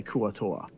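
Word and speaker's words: Kuo-Toa: That's how I'm going to say Kuatoa.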